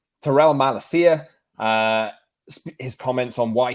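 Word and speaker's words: Tyrell Malacia: off apparently uh we'll talk terrell malesia as well i'm sorry i pronounced that name wrong terrell malacia uh his comments on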